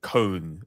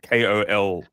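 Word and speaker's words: Köln: Apparently, it's not Cologne, it's Cone. It's like Koln. Well, if you look at the traditional spelling, it's Koln.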